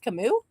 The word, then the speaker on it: Camus: It's pronounced Camus.